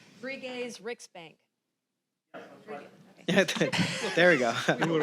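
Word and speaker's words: Sveriges Riksbank: How did they do in their pronunciation? Bell. Bri's Rick's bank. Brigay's Ricksbank.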